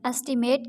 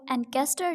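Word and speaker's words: ancient: होना एंसेट अबाउ अजदाद इसको एंकर नहीं एंसेट प्रोनाउंस करना है एंसेट अबाउ अजदाद एंगल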